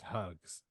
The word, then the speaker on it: Hughes: let me know hers hers is actually pronounced hugs Sam hugs I can't do anything